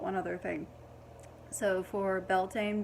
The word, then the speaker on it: Beltane: to call it um i've heard it pronounced quite a few many different ways i think one was like veltana or something like that which i thought was really pretty but belting just sounds the best of me so beltane